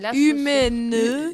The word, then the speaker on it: UMEN: là, c'est Humaine. Humaine. Alors ça s'écrit U-M-E-N et c'est Univers montagne, esprit nature.